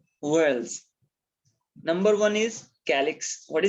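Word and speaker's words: whorls: worlds w-h-o-r-l-s where else you will pronounce it as wells like you speak world but but here you need to say wells a flower has four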